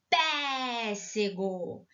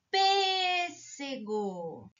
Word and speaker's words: pêssego: boca o acento agudo ele vai ficar pé sego e sai errado que o som é fechado então correto é uma cento cinco flexo pêssego agora eu tenho duas